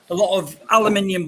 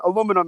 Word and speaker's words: aluminium: I mean, we get a lot of aluminium bottle tops. Sorry, you say aluminum. Yeah, well, that's okay. Aluminium and aluminum, it's the same thing, just different pronunciation, right?